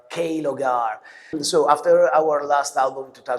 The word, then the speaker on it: Klogr: is strange but uh you can pronounce clog kogar kogar.